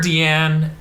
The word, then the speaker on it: Diane: like Deanna or Dean they call her deian yeah it's spelled Diane yeah it's Diane but this like Dean um which is the